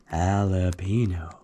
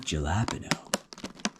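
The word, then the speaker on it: jalapeño: Halapeno. Not jalapeno.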